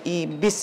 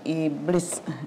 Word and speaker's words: Ibis: ini saya pakai mereknya Ibis blue jangan lupa bacanya Ibis ya bukan iblis ini kita pasang hooknya nya saya pakai mixer